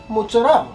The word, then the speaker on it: mozzarella: about how to pronounce mozzarella and she says it's not fresh mutts it's not much it's mozzarella no I say depends what